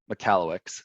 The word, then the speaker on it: Michalowicz: and uh and cash management developed by mike mccalluyx that's how you pronounce that in case you didn't know um